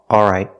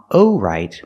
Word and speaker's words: all right: o but a if we eliminate the L it sounds like this a all right all right I'm all right I'm all right not I'm o right but I'm all right so you can pronounce the L all right I'm all right or you can eliminate the L and say I'm all right but use the vow all don't use the vow O It's Not O right